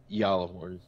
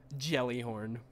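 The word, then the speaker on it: Gjallarhorn: guess i don't know i think the the correct would be yalaborn because of the the j but i don't really care because gala worms yeah jelly horn that is the official pronunciation jellyhorn so yeah yeah i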